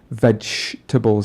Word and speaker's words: vegetables: with the word vegetables vegetables again this ch sound that's that's hidden in there and i don't want